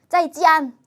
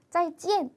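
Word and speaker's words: 再见: ' 이안 ' 을 ' 자 이지안 ' 이라 고 발음 하면 어색하게 들려 요 . 우리 는 ' 자 이지안 ' 을 그렇게 발음 하지 않아 요 . 우리 는 서로 를 ' 자이젠 ', ' 자이 엔 ' 이라 고 부르며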